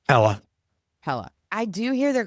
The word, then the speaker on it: Pella: How do they pronounce it? Pella.